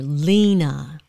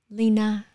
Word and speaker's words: Leyna: begin the first syllable like my name in english lina the lee is more lena lina lina and so when the